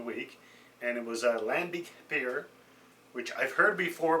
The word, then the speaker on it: lambic: So I figured, okay, well, I got home, did a little bit of research, and found out that Lambic, or Lambic, as it's pronounced in Belgium, is actually a specific type of sour beer.